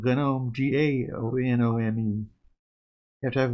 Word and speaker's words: GNOME: That's how you pronounce that word in English, gnome. Silent G.